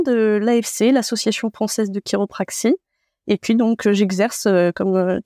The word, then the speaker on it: chiropraxie: sommes tout oui alors la chiropraxie donc on chiropraxie mais en effet ça s'écrit chi c'est une profession de